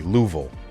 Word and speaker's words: Louisville: Lou, forget the middle. Vil. Exactly. Louville. Wo. We have to say it like LOL. Wa. Just like three L's and then Vil Davis.